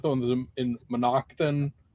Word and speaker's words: Moncton: Is that the one that's in in Moncton or Mononokton or whatever it is? Moncton? There you go.